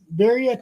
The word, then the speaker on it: birria: I can cook them, but I don't know how to pronounce them. I think Birria tacos.